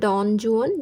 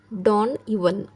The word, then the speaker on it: Don Juan: তো পোয়েমটার নাম হচ্ছে ডন জুয়ান, যেটাতে যেটা আসলে উচ্চারণ হয় না, এটাকে ইউয়ান বলে, ডন ইউয়ান।